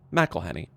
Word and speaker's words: McElhenney: It really is quite simple. Melhenny. But as more Better Industries has upped its global investments, including soccer teams in Colombia and Mexico. Melhenny has found that his